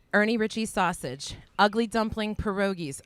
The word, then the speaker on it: pierogies: So, Ernie Ritchie's sausage, ugly dumpling pierogies.